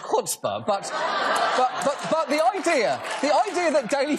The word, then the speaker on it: chutzpah: First of all, schutzpah is actually pronounced chutzpah, but the idea that